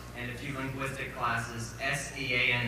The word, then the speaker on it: Sean: First of all, I'd like to say after 4 years at the college and a few linguistic classes, S-E-A-N is pronounced Sean.